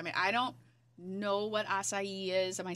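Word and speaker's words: açaí: really good i mean i don't know what acai is am i saying it right you are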